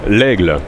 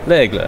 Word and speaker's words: L'Aigle: L'Aigle. L'Aigle.